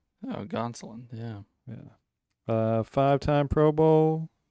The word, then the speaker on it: Gonsoulin: However you pronounce his last name. Don't have him. Gonsoulin. Oh, Gonsolin.